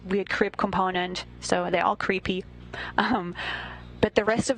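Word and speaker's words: KREEP: a weird component that we call creep and it's spelled k r e e p and stands for potassium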